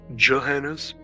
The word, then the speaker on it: Gehenna's: Some of that Gehenna's Gold. Gehenna's, however you want to pronounce it. It's actually pronounced Johannes. Johannes, but it sounds like a J instead, but it's got a G.